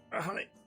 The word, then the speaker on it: Iihane: Iihane.